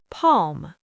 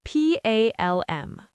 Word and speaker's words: palm: Palm. P A L M.